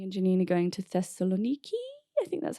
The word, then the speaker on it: Thessaloniki: It's crazy, but tomorrow me and Janine are going to Thessaloniki.